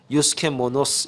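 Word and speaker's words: εὐσχημόνως: 그럼 이 단정 이라고 하는 뜻이 헬라 말로 유스케 뭐 너 스 이렇게 발음을 하는데 이 뜻이 어떤 뜻이냐면 이건 두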